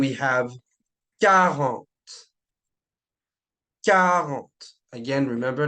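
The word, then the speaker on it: quatre: then we have car again remember like I said last video make sure you don't pronounce the Kant like Quant right with the qu it's just car okay car moving on now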